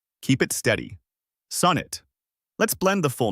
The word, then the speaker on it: sonnet: The pronunciation is sonnet, with stress on the first syllable. Break it into two parts, sun and it. For sun, use a short, open O, like in on or dawn. Keep it flat and natural. Don't round it like sewn, and don't slide towards sun. Then add the quick, light it, just like the everyday word it. Keep that second syllable unstressed and short, and finish with a clear T.